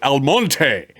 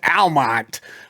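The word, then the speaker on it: Almonte: live in our community I call it alonte and and I love the the Spanish pronunciation but of course it's Almont uh uh here locally and and you and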